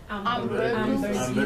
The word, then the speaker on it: hamburguesa: Hamburguesa. Hamburguesa. Hamburguesa, hamburger. Yeah. Hamburguesa. Hamburguesa. Ambur. Hamburguesa. Hamburguesa. Okay, hamburguesa. Okay, so the H is silent.